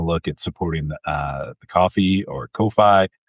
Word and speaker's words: Ko-fi: at supporting the uh coffee or ko-fi. I think it's pronounced coffee. No one knows, right?